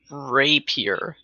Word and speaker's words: rapier: Rapier. I thought I was Rapier. pronouncing it rape. You keep saying rapier. Oh, rapier. Rapier. There you go. It's kind of French.